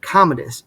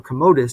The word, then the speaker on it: Commodus: of the reign of Commodus, or Commodus, depending on how you'd like to pronounce it, the son of Marcus Aurelius, who really kind of started the decline of this whole thing.